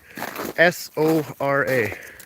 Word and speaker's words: Sora: But is it Zura or Sora or Zora? It's It's S O R A.